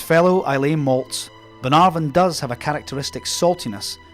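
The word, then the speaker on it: Bunnahabhain: spelling with an abundance of consonants is actually pronounced banaran which can be quite misleading when you hear people talking about this rather mellow surprisingly light whiskey like its fellow I malts Ben arvan does have a characteristic saltiness imparted by its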